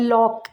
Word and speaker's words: lock: पहले सी आया है तो वहाँ भी सी साइलेंट होगा। एग्जाम्पल्स है लॉक, LOCK, यहाँ पर के से पहले सी आया तो सी साइलेंट है।